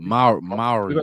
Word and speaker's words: Mowry: Mowry, yep, Yeah.